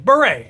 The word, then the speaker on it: Beret: I always pronounce it Barrett for some reason. Beret. His channel is Beret, and he sometimes wears a beret. And yet I still insist on pronouncing it Barrett half the time.